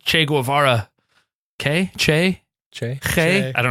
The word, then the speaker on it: Che: Che.